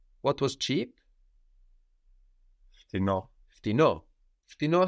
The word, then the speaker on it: φτηνό: Φτηνό has the accent on the end, so it's slightly different when we say cheaper.